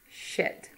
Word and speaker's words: shit: Sheet versus shit.